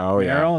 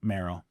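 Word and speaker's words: Mvrow: But I mean I great people and if that's the choice I'd have on it's probably Maro and it's spelled with a V. M V R O W.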